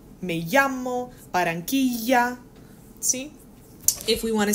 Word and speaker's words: Barranquilla: Cuando tú tienes doble L, se pronuncia como Y en inglés. Por ejemplo, okay? For our last project, we had a place in Colombia called Barranquilla. Barranquilla. It's pronounced like a Y.